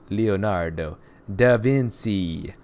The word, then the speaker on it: Leonardo da Vinci: about in the correct I asked my Italian professor the correct pronunciation of this he says it's Leonardo da Vinci I hate your finish